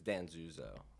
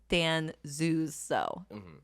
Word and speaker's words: Danzuso: it's your last name people always do have trouble with it it's Dan zuzo Dan zuzo yeah so weird it